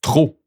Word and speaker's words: trop: Final P is silence. Trop.